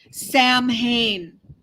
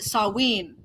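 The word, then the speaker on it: Samhain: look at it spelled you would think it's Sam Hayne s-a-m-h-a-i-n Sam Hayne but they pronounce it saween which is where we get the Halloween from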